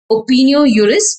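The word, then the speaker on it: opinio juris: element is opino Urus opino Urus where J is silent opin Urus means accepted as law so I said that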